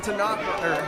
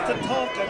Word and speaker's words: Tatanka: And look at Tanaka. Tatanka. It's pronounced Tatanka, Travis.